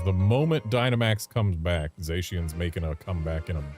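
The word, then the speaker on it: Zacian: So they're the cyan, zashian, zashian, and the magenta.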